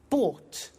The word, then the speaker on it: bought: in the story so listen carefully to the pronunciation by bought you notice that o ug HT is pronounced